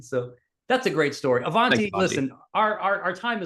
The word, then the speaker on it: Avanti: So my name is Avanti is how you say it.